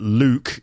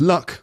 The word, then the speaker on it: Luke: again that's probably because it's hard to pronounce Luke or people don't realize that Luke L UK is actually a name and they think that my name is luck which is quite cute